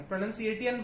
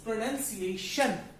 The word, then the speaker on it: pronunciation: ए वाला हो गया, कई लोग इसे प्रोनंसिएट पढ़ेंगे, प्रोनंसिएटियन पढ़ेंगे, which is wrong. This is प्रोनंसिएशन. टी आई जब एक साथ होता है मिड में, टी आई जब मिड में एक साथ होता है तो वो श साउंड करता है.